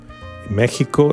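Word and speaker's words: México: pronounce in Spanish ESP Mexico is is this x is like J Mexican J or Spanish J there are different pronunciation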